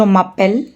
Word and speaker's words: appelle: That means the endings o, os, and ont, these endings are not pronounced, and it is just the appel part that gets pronounced. So all these verbs have the same exact pronunciation, appel.